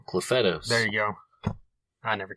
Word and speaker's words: Clufetos: Clufetos.